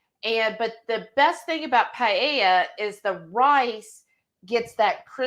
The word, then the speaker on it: paella: Lisa said, peyote. Tell her what you were trying to say. Paella.